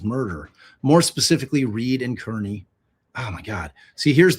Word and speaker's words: Kearney: and change the name so it's c a r n e y, which is how you'd pronounce Carney.